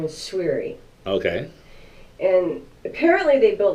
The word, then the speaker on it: Souiri: grammar school right and the proper pronunciation is swey swey it's my last name